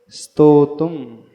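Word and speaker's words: स्तोतुम्: स्तोतुम नहीं, ई नहीं है, स्तोतुम, स्तोत्र, स्तोतुम। अंदर ही थोड़ा सा ई को दबा लो और बाहर स्तोतुम निकल कर के आए।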